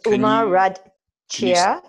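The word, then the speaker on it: Uma Rudd Chia: It's Uma, U-M-A, like Uma Thurman. Rudd, R-U-D-D, like Paul Rudd, who's Ant-Man. And Chia, C-H-I-A, like the seed, chia seed.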